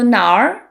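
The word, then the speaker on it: 哪儿: might have noticed that Nar has two characters but the pinging is one syllable that's because it's technically na plus r and then we merge it into Nar that is a very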